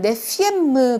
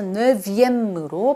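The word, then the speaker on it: neuvième: 원래 네프인데 서수가 될 때는 네피엠무 그러면 발음이 너무 좀 세진다고 생각을 해서인지 왜로 바뀌어요. 그래서 네비엠무로 발음을 합니다.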